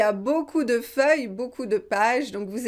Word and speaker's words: feuille: Oui, j'écris sur une feuille de papier, sur une feuille. On écrit à la surface de la feuille. Ok? Bien prononcé, feuille, feuille. Vous avez y, feuille, feuille. Ok, c'est une syllabe, feuille.